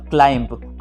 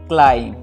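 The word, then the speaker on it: climb: आपने यहाँ पे बी का साउंड क्रिएट किया, जबकि यहाँ पे बी का जो साउंड होता है वो साइलेंट हो जाता है और उसे कुछ इस प्रकार से पढ़ा जाता है, बॉम्ब, कॉम, थम, डम और क्लाइम।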